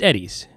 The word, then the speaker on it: Eddie's: I want to say Edie's, but I believe it's Eddie's. It's got 2 D's.